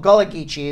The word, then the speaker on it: Gullah Geechee: the jelly cheese yes I was pronouncing it incorrectly okay okay in Louisiana that called Gullah Geechee x' but that's New